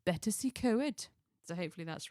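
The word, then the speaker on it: Betws-y-Coed: My Welsh friend Yeah. told me off I'm pronouncing it. Betsy Coed. No, it's Betacy Co.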